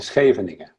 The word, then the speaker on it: Scheveningen: With a soft G, huh? Mm. I think, Harry, you've got the right pronunciation there. Van school in Scheveningen.